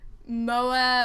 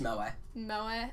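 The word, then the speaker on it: moe: to not be too over MOA or Mo or whatever however you say it or it's pronounced mo mo okay I was pretty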